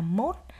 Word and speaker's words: mốt: lại số này khi các em lưu ý số 1 đứng sau chúng mình đọc là mốt bắt đầu từ 21 trở lên thì số 1 đứng sau chúng mình sẽ đọc là mốt nhé a tiếp tục YB